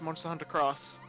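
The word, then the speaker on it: Monster Hunter X: maybe that's the point x equal cross yeah well that's how they pronounce it for that stuff they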